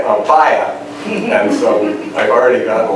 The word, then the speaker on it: Ampaya: and in some countries, they say Ampaya with an accent over the A to make the pronunciation match the English. But in Cuba, they mostly say Ampaya, and so I've already gotten like criticism, it's spelled wrong, etc.